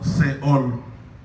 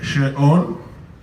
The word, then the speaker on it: Sheol: palabra hebrea Sheol, pero como en nuestra lengua la H muda no se pronuncia, por eso la tradujeron como Seol, pero en hebreo se dice Sheol y es el infierno.